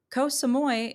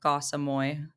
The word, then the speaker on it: Koh Samui: White Lotus Resort in Koh Samui, if you're saying it phonetically like a white person. But I think is more like Koh Samui.